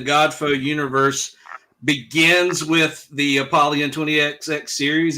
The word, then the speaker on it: Apollyon: Apollyon 20XX.